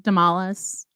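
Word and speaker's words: Damalis: first letter d-a d-a-m-a-l-i-s demalis sounds like tamales that's because i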